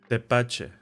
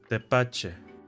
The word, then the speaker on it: Tepache: Tepache. Tepache.